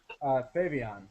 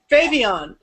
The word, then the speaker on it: Phavian: is how you guys pronounce the band? Phavian. Phavian.